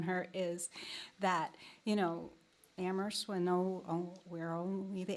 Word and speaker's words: Amherst: that I've known her is that you know ammer when know we're only the AG is silent there's a lot of bickering a lot